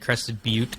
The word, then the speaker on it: Crested Butte: yeah and so one one thing did i pronounce ute territory and crested butte correctly is that how it's pronounced yeah you